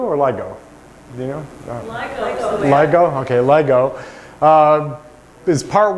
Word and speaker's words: LIGO: Is it pronounced LIGO or LIGO? Do you know? LIGO.